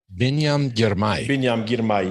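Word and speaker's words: Biniam Girmay: Help me with the pronunciation. Binyam Girmay. Binyam Girmay.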